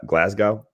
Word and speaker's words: Glasgow: sammy's awesome i know he's out of gla glasgow that's how you say it yeah um so